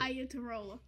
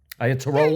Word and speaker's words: Iatarola: Iatarola. Iatarola. You think he's Italian? With a name like Giuseppe Iatarola. I said it right? Iatarola?